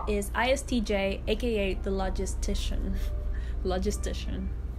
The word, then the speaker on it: Logistician: Logistician. Yes, that's how you pronounce it.